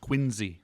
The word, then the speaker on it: Quincy: Yeah, pronounced Quincy.